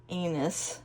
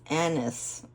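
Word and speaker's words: anise: video about the star I said anus but it's Anis that's what it's how you pronounce it Anis not anus okie dokie here it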